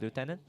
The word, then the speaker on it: lieutenant: Depending where you're from, which part of the world. Lieutenant, same. Since Magic the Gathering is in American English, I guess we go with the American pronunciation, which is lieutenant.